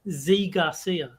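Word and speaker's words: Zee Garcia: reviewer whose name is z Garcia and that is spelled z-e-e so there is no way to pronounce that other than Z so Z Garcia every everything else is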